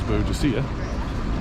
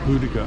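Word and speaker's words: Boudica: on my right here see the statue of buddhica which i always have mispronounced as beaudacia but hudika apparently is the correct pronunciation and that really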